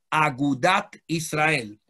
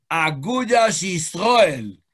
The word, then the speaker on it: Agudat Israel: partido que se llamó Agudat Israel, o mejor pronunciado, Agudas Israel, porque ellos eran bien Ashkenazim.